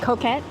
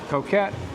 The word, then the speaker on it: Coquette: I said it right? Coquette. Coquette. I kept putting an R in there before, but so we are headed there, and we'll see.